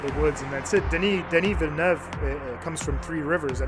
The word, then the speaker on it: Denis Villeneuve: So, yeah, if you guys really want, just a little diction class on how to say his name, it's Denis Villeneuve. Villeneuve. So that's the way you say his name, Cool.